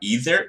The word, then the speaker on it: either: Either você pode falar either ou either. Dos dois jeitos tá correto.